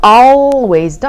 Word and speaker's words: always: 자, always도 아니고요. 사실 이 L이 살짝 무음이에요.